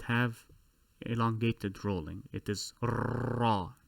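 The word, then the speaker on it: راء: So if you have to roll your R for the sound, go ahead. It is raw. However, do not roll too much. Do not say raw. That would sound like an engine on a boat.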